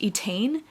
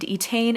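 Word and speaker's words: Étaín: we're following this girl I think her name is pronounced etan it's e t a i n there's a lot of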